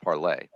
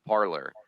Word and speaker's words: Parler: I love that the social media site, of course, is pronounced parlay, but the far right